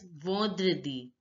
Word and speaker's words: vendredi: Friday is pronounced as vendredi. Vendredi, vendredi. En sound in French is pronounced as on, the nasal sound, on. So it is vendredi, vendredi.